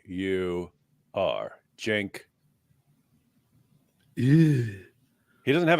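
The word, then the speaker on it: Uygur: Y cand say about him u y g u r Jen yeah he doesn't have a h in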